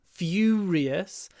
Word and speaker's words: furious: quite U Furious and it's not quite uh fur ious so it's it's not the bird sound Furious it's not the ooh sound um uh I don't know used it's Furious it's in between the two it's like a long fous Furious uh it's a little